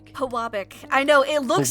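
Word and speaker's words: Pewabic: How do you pronounce it? Is it Pubic? Pwabic.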